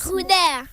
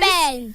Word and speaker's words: Ruben: Ruder. Pardon? Ruder. Aïe. Prononce Mal très bien. prononciation. Prononce bien, ma chérie. Il ne faut pas souffler, ma puce. Ruben.